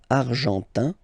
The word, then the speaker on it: argentin: And then l'Argentine, argentin, in, gives you this un sound, argentin, okay?